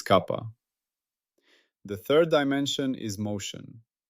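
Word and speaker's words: kappa: Its symbol is the Greek letter kapa pronounced kapa. I have previously used the simple letter k. That was an error. It is kapa.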